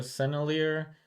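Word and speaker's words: Sennelier: uh oil pastel and I uh Googled how to pronounce these These are senier that's what Google said so that's what I'm going to stick with with celier oil pastels I used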